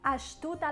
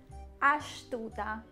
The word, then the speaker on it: astuta: Astuta la luce. Spegni la luce. Turn the light off. Astuta. Not astuta, smart. Astuta. We usually put the sh to pronounce the s when it's followed by a consonant.